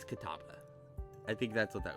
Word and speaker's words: Catawba: I think that would be Catawba. I think it's the W before the B that fucks me up on that one.